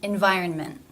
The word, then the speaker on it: environment: The exception to Rule 1 was the ending consonant cluster NT, where it is pronounced as a stop, as in environment, scent. The exception to Rule 2,